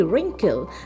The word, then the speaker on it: wrinkle: N K L E wrinkle and we pronounce it as R I N K L E wrinkle. W is silent and the sentence that we have is she have wrinkle on her face.